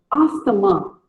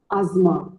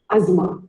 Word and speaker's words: asthma: Most of us call it as asthma, but wrong. It is not asthma. It is called as asthma. The T and H is silent. Asthma.